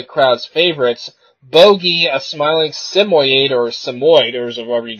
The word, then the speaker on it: Samoyed: By the way, it's Samoyed. Well, you could say it either or. Well, that's how it's pronounced.